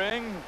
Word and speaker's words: Ng: Peter Ng, native of Toronto, Ontario. I-N-G is how you spell it.